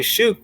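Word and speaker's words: שוק: And actually, shuk would be one whole syllable.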